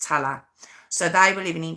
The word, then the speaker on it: Tallaght: It's spelled Tallaght. Talla. That's how I've heard it pronounced, Talla.